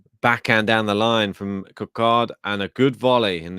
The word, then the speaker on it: Couacaud: Minoru saying, Ben, the right pronunciation is Couacaud, apparently. Really?